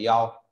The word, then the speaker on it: 幺: Số điện thoại như là mã số nên ta lưu ý đọc từng con số 1, số 1 đọc là yao.